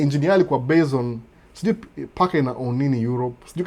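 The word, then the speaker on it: PACCAR: Peterbilt ni Packard. P-A-C-C-A-R. Kama Packard.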